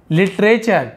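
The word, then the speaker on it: literature: कहते हैं लर्निंग सीखना लिटरेचर टी यू आर ई को हम चर पढ़ते हैं जैसे नेचर फ्यूचर तो चर है ना लिटरेचर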